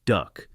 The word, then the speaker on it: DUKW: The DUKW, pronounced duck, was one of the minor miracles of wartime engineering.